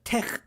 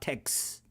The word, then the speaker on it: TeX: te okay it's not Tex it's not text it's not Tex it's Tech that X is pronounced CH kind of kind of okay that's